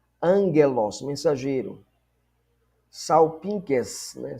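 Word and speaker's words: σάλπιγξ: Salpinques, né? Salpinques. Salpinques. Esse gama aqui você lê como N, né?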